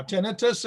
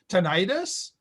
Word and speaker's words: tinnitus: subject of tinnitus now tinnitus is the canadian more common pronunciation tinnitus if you want to put the accent on the second syllable that's more common here in the u.s i'm bilingual i can